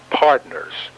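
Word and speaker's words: Pudnuh's: then opened up up the place known as partners note this is the texan draw pronunciation of the word partner mr cook explains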